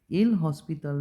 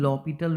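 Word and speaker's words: L'Hôpital: আছে, যেটার নাম হলো এল হসপিটাল রুল বলা যায়, আর এটাকে লপিটাল রুলও বলা যায়। তোমরা যেভাবে এটার প্রোনাউন্সিয়েশনটা এল হসপিটাল রুলও বলতে পারো বা লপিটাল রুলও তোমরা এটাকে বলতে পারো।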